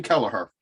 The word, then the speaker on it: Kelleher: Like, number one, it took me 9 Google searches to figure out that his name is pronounced Kevin. Yes, Kevin Kelleher.